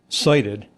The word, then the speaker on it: SIDIT: So si t pronounced uh cited I hath been to the mountaintop and I hath cited the promised land.